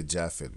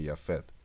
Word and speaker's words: Japhet: much like yafet because we don't say jaffet we say yafet right in the Dutch right and gmer we